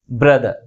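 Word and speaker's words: brother: example ఇచ్చేసి బ్రదర్ బ్రదర్ దీనిలో ఎన్ని సిలబస్ ఉన్నాయి టు సిలబల్స్ ఉన్నాయి ఏ సిలబల్ ఎక్కువ ఫోర్స్ గా పలుకుతుంది ఫస్ట్ సిలబుల్ సెకండ్ సిలబుల్ కంటే ఎక్కువ ఫోర్స్ గా పలుకుతుంది దీన్ని ఎలా పలుకుతాం మనము బ్రదర్ బ్రదర్ ఓకే ఓకే ఇప్పుడు దీనికి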